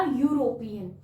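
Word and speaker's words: European: तो जब हम इस वर्ड को प्रोनाउंसिएट करते हैं तो ये निकलेगा यूरोपियन यू, और यू आपका वाउल नहीं होता, यू साउंड आपका वाउल नहीं है।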